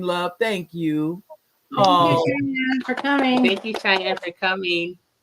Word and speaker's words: Cheyenne: Yeah, Cheyenne.